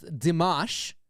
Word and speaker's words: Dimash: reactions which I believe his pronunciation of the name is dimash right again right I'm